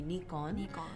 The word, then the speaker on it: Nikon: got it it's nico well it's a japanese company so the correct way to pronounce it would be nikon but in english we pronounce the i from nikon as i so it's nikon toyota you mean